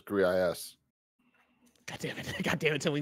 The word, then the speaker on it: Gris: And then some jabroni here wrote that Greece is pronounced Greece. All right, so it's definitively Greece according to you wrong. No, the developers said it was GRIS.